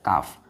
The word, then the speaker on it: calf: हम लोग बोलते हैं जैसे बुल काफ, ध्यान दीजिएगा काफ का स्पेलिंग CALF, काफ।